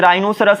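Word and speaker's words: rhinoceros: तो साइलेंट हो जाएगा जैसे राइनोसेरॉस आपको पता ही होगा तो यहां पर आर्य है यहां पर एक साइलेंट है तो बन गया राइनोसेरॉस और रिदम लाल से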